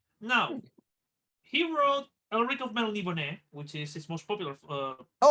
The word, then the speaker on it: Melniboné: That's that's how it's you pronounce it. I was just constantly calling him the Melonborn. No, like, we were all born from melons. Melons. No, it's the accent. That's a Hispanic thing. So you pronounce it Melniboné.